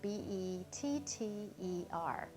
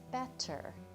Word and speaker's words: better: Now, from looking at the word, you'd think, oh, it's going to be pronounced like this, better. But it's not. We don't pronounce it like that. We pronounce it with a soft D. We say better.